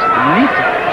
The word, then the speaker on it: Ncita: South African welcome Ncita. And of course, as you just saw, his 12 rounds for the IBF junior featherweight title from ITA, but it is pronounced Ncita.